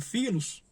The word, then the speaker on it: philos: O amor filos, né, que é escrito com pH, mas pronunciado filos, é um amor no sentido de amor fraterno.